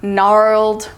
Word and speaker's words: gnarled: it should be silent we have the initial GN as in gwing or gnarled or gnarly the g is silent as well we have the initial